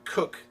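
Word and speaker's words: Coke: like judge kooch or Lord KO sir Edward cook and it is pronounced cook was a jurist of the English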